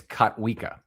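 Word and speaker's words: Kotwica: By the way, it's Katwa.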